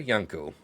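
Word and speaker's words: Jano: Dear Yano, because uh J is spelled uh pronounced Y in Polish.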